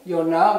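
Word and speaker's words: יונה: is structured and this is uh Jonah's name Yona which we've already had in previous verses so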